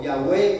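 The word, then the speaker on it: Yahweh: le llaman bueno yah Jehová o yahwe como lo pronuncian en hebreo bueno es Dios y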